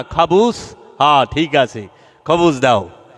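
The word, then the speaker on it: خبز: খাবুস, হ্যাঁ ঠিক আছে, খবুস দাও। অনেকে তো উচ্চারণে ভুল থাকলে খবিসও কয়।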